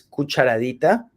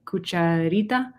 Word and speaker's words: cucharadita: describir esta cantidad de, Teaspoon es cucharadita. oh, you can just, okay. And tablespoon is cucharada Okay. or cuchara. Cuchara is the big one, and cucharita?